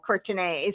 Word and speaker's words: Courtenay: It is pronounced Courtenay, but it's spelled like Courtenay.